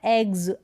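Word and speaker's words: eggs: एग्स, एक्स नहीं बोलते हम, एक्स, एक्स, स साउंड नहीं आता, एग्स, ज साउंड हो रहा है।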